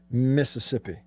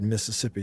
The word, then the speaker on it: Mississippi: roasters in new albany mississippi notice i pronounced all the yeses in the word mississippi and you should too everybody should don't say mississippi drives me crazy as if